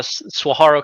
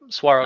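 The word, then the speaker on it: Saguaro: Is that the is that the uh, Seawarro Cup? Is that how you pronounce it? Yeah, the Swaharo Cup. Suaro Cup.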